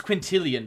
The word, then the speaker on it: Quintilian: we drinking tonight oh my name's quintilian by the way rhymes with million very slick uh [